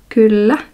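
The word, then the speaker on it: kyllä: Finnish informal language is Kula and this letter is pronounced like you like you say bad you make a kind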